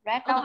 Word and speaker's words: read: Red. Đọc khác là gì? Red. Đọc là red. Giống màu cái chữ này nhá.